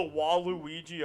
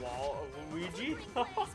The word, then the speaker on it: Waluigi: Oh well, I like the subtitles mispronouncing Waluigi, Wall of Luigi. The Wall of Luigi. The Wall of Luigi. Even Sakurai doesn't know who the fuck Waluigi is.